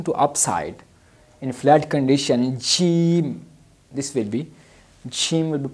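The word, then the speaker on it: جيم: lecture is about gene gene basically like J in English Jim will announce it longer she like G so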